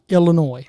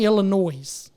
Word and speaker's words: Illinois: got on to me for saying Illinois. I said, "The the S is silent." I said, "No, the E is silent, not the S. The E."